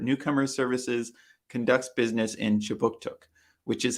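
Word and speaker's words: Kjipuktuk: that right start newcomer services conducts business in chibuktuk which is how you say halifax nova scotia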